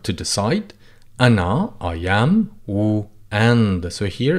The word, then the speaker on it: و: Ana, I am, wu, and. So here it's pronounced wu.